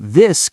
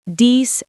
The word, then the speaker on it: this: Many learners say dies and that. but the correct pronunciation is this and that. Put your tongue gently between your teeth. Very gently. Don't bite it.